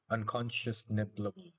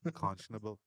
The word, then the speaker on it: unconscionable: And the thought of anything less is unconscious nibbleable, something like that. Unconscionable. Unconscionable. I can say it properly.